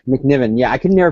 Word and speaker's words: McNiven: this guy's name right Stephen mcnemouth is that how you pronounce it McNiven I think McNiven yeah I could never